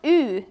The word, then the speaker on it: y: This is pronounced U in Finnish, which is my native tongue.